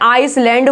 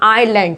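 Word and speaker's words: island: लोग इसको इसलैंड बोलते हैं या आइसलैंड बोलते हैं। नहीं, इसमें स की आवाज नहीं आएगी, एस की आवाज इसमें बिल्कुल नहीं आएगी, इसे बोलेंगे हम आइलैंड।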